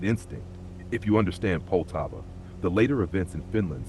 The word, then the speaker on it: Poltava: If you understand Poltava, the later events in Finland stop feeling random and start making sense as consequences. And pronunciation first, since you asked. Poltava is pronounced roughly Polt-va.